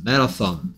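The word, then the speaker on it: marathon: 얘는 아 소리예요. 이 친구는. 메라톤 이렇게 발음하면 되겠습니다.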